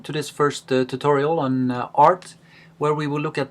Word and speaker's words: Rt: most of the time pronounce the name of the computer program art instead of RT just like we uh